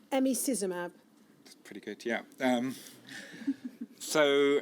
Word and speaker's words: emicizumab: And then there's a current treatment now, and I've been challenged to get the pronunciation of this right, emicizumab. That's pretty good, yeah. So emicizumab or Hemlibra has been a revolution in managing